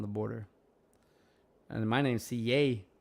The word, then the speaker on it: CJ: border and my name's CA there's no J in Spanish so I get the yay thanks Dad um but